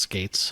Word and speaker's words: Skeates: We determined his name is pronounced Skates.